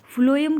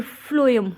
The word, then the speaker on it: phloem: क्या कंडक्ट करता है आपने कैसे करना है साउंड से जैसे फ्लोम फ्लोम एफ का आ रहा है ना एफ स्पेलिंग तो पी से शुरू होती है लेकिन थोड़ा सा साउंड जब हम बोलते हैं तो फ्लोएम और फूड का भी ऐसे ही आता है तो फ्लोएम कंडक्ट्स फूड